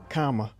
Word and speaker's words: Kamala: Kamala's right. Comma. It's It's okay, comma. comma. Like, think of a comma.